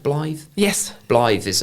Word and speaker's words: Blythe: Is it pronounced Blythe?